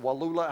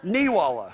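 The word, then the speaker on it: Neewollah: your, what is it, Walula? How do you pronounce it? Weewalla. I still didn't get it right, did I? What? Neewalla. It's Halloween spelled backwards.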